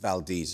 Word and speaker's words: Valdez: Yes, so it's pronounced Valdez as Tracy said, yeah.